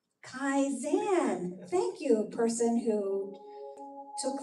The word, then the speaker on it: Kaizen: And for this meditation, I'm going to take you through the Kin move. Kaizen.